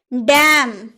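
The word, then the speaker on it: damn: हम लोगों ने बोला कॉलम कॉलम यानी कि खंभा डैम डैम डैम बोलते हैं डैम नहीं ना एन का उच्चारण नहीं होता है डैम यानी कि धितकारना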